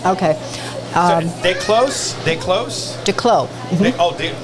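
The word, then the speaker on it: Desclos: Declos. Mm-hmm. The S is silent.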